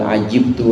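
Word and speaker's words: عَجِبْتُ: Karenanya ditunjukkan juga di sini bukan hanya di Al-Quran, Di Al-Quran juga disebutkan bal ajibtu wa yaskhurun. Kalau bacanya ajibtu berarti aku heran, maksudnya Allah.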